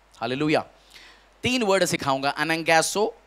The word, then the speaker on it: anagkazo: अनंगैसो, spelling लिखो ANAGKAZO।